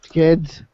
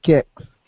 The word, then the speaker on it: Kicks: And then the other thing I've done during Pumped Up Kids is when there's, I keep saying kids, but it's kicks. I always pronounce this song wrong, but everybody knows what song I'm talking about.